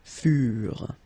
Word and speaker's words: furent: Keep in mind that ENT, you know, the ending for the plural form is never pronounced, so furent.